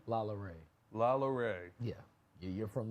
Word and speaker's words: LaLaurie: That nigga said LaLaurie. That is the whitest pronunciation I have ever heard.